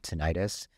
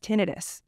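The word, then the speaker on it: tinnitus: oh okay because a lot of people have tenius is the ringing of the ears after an accident so do you know it's pronounced tenus she's taught me that cuz I would say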